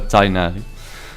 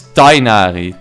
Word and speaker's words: Tighnari: I think is Tighnari, is what you're saying, pronounced with a hard G or a soft G. I think it's Tainari. Tainari is what it should be.